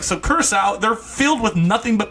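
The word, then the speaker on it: Curaçao: Let me pronounce it right. Let me not bender it up in here. Curacao.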